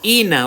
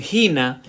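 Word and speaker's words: ἵνα: Miren aquí, Ina, o como otros lo pronuncian, Gina, tiene un propósito, por eso dice a fin de que llevemos fruto para Dios.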